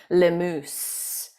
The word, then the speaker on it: Lemoose: And I've had last name pronounced incorrectly in my head for like 3 years now. Lemoose. You know, when I looked over at my phone, the Facebook is transcribing it and it spelled it moose, M-O-O-S-E, which made me laugh just now, which I love. Lemoose. I will never forget the pronunciation.